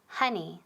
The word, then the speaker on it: honey: Y pronunciation, very important, honey, honey, no honey. Okay, nunca honeymoon, honey. So O es como A, ¿verdad?